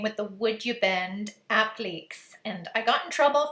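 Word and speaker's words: appliqué: the would you bend appliques and i got in trouble for calling them app leaks before because that's the french canadian way of saying it and everybody was saying it's applique however you pronounce it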